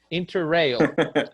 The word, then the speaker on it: Interrail: Interrail. Interrail. So separate it. Inter. Rail. Rail. So you say interrail. Interrail. Not real, because real is unreal. Rail.